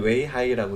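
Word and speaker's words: 威海: 네, 그래서 계속 설명을 드리면 위에 쪽에 물류가 다 몰린다라는 거 이제 설명을 드렸고, 한중 해상 물류의 중심 위해, 이제 중국어로는 이렇게 쓰고요. 읽을 때는 웨이하이라고 읽습니다.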